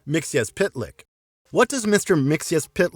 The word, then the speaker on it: Mxyzptlk: look at the earliest adaptations mix's name is pronounced Mixel Plick in Superman the animated series even Superman initially uses this pronunciation but Mixie corrects it and it's pronounced mix as pitlick what does Mr mixia pit Leck look like